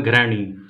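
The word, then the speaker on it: घृणि: कुछ लोग करते हैं ओम घरणी सूर्याय नमः, ओम घरणी सूर्याय नमः। इसको ऐसे नहीं करना है, घ में रे लगा हुआ है, घृणी।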